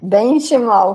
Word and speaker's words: Benchimol: Como que pronuncia seu nome? Benchimol, Benchimol? Benchimol.